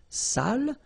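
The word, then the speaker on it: sale: without the accent so if you don't put the accent it means dirty and then you pronounce it Sal but in that case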